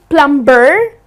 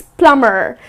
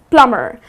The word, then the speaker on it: plumber: It's not plumber, but it's plumber. So here the B is silent. It's plumber.